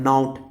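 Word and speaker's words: nought: कितने बच्चे गलती करते हैं, नाउट, नॉट नहीं हो, कितना अच्छा टीचरों, कितने टीचर भी इसको 0 पढ़ते हैं, P1 0। अरे पढ़ने के लिए कुछ नहीं, लेकिन रियल में प्रोनाउंसिएशन होता है नाउट, NOUGST, नाउट।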